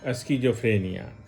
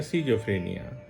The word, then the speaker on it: स्किज़ोफ्रेनिया: होता है और फिर स्किज़ोफ्रेनिया या सिजोफ्रेनिया, दोनों उच्चारण होता है, जिसमें पागलपन का दौरा भी आता है।